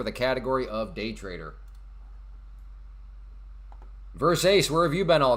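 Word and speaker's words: Versace: No, it's pronounced verse ace.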